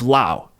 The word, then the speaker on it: Laos: and the country name I will stick with the pronunciation of this country as La so just to recap it will be the country of LA and let's say we're